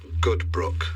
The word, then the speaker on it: Goodbrook: We are in session live with the legendary folk singer Blackbird Goodbrook. Is that how you pronounce it?